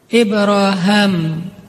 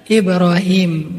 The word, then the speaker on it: Ibrahim: dulu daripada Rasulullah adalah ibraham kalau dalam salah satu qiraat itu bacanya Ibra ibraham makanya orang Inggris nyebutnya Abraham atau bisa juga dibaca Ibrahim nabi ibrahimlah yang mengucapkan sebelumnya